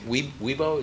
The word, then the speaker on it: Weibo: Weibo, is that how you say it?